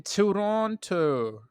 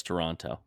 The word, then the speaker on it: Toronto: Toronto the second T anyone who is from Southern Ontario does not say the second T how do you how